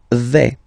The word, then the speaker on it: vais: The first form is je vais. Okay, so remember, final S not pronounced here. Je vais. Okay, when you combine this A, I, you get the sound E, really open.